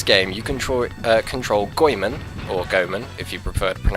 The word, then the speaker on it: Goemon: came from the gambari goyman series yeah so how you pronounce it it's actually goyman and not Gomen as I used to pronounce it yes it is